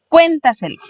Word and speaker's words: cuéntaselo: Por ejemplo, cuéntaselo. Cuéntaselo tiene su sílaba tónica en la cuarta de atrás hacia adelante.